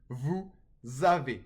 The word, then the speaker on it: vous avez: So the S in vous is pronounced when followed by a vowel sound.